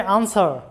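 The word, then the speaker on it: answer: মানে যেই হোক তারপরে আনসার আনসার শব্দ লক্ষ্য করো যে আনসার ডাব্লিউ এর উচ্চারণ হয় নাই এরপরে সর্ড সর্ড মানে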